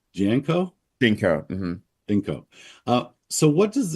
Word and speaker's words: GEANCO: So this Hollywood gala that you guys met at, this is a signature event for, is it pronounced GEANCO? GEANCO.